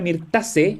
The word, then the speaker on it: Myrtaceae: las mirtáceas, bueno, o la familia Myrtaceae, como se pronuncia en latín, es una familia, primero que todo, es cosmopolita, la familia en sí, ¿ya?